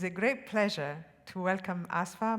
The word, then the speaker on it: Asifa: as you might suppose the i in her first name is silent aspha and the i in her last name is e Majid it is a great pleasure to Welcome asva majeed to the podium